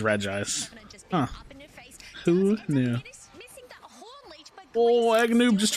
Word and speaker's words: Regice: making myself sound conservative I always thought it was called Reggie ice but I realized that that's like an added syllable for no reason so it is Regice who knew oh Wagner